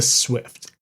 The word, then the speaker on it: Swyft: But the big one was just called the Swift. That's spelled SWYFT.